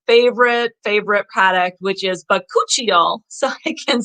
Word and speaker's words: bakuchiol: to say this word it was like you're supposed to like pretend like you're sneezing but cut you all anyways that's how i remembered how to say it awesome awesome product so bacocchio so that is um